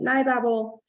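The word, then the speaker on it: NiBabel: So we're going to use another favorite library that's also controversial in how you pronounce it. I call it NeuroBabel.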